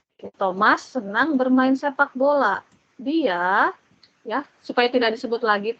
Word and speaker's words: die: Der Lehrer, kalau laki-laki profesi pasti der, kalau perempuan pasti di, ya. Bacanya di ya, bukan die. Di.